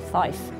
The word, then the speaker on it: fife: And therefore in order to distinguish between 'nine' and 'five', you really have to say 'niner' and 'fife', otherwise they will sound the same.